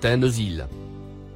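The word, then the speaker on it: تنزيل: le mot en surbrillance jaune se prononce tenzyl il signifie ce qui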